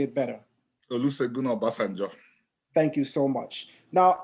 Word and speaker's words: Olusegun Obasanjo: wrong, so I'm going to ask you to pronounce the president's name because I'm sure you would say it better. Olusegun Obasanjo.